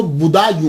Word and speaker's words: بدایوں: گے، مسلمان بھی ہیں۔ اس کا تلفظ جو ہے وہ بدایوں ہے، کیونکہ یہ پرنس بوڈا جو ہے نا اس کے نام کے اوپر اس سے یہ منسوب ہے، تو اس لیے اس کو بدایوں کہا جاتا ہے۔ لیکن بعد